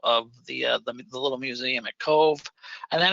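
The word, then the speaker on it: Cobh: So it's C-O-B-H, but it's pronounced Cove.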